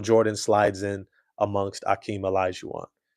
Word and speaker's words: Olajuwon: Sorry, Hakeem Olajuwon. That's how you pronounce it.